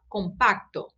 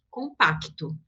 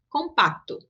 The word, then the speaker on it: compacto: Esse C a gente vai pronunciar mais suave do que seria em português. Então, em espanhol fica recta, compacto, tá?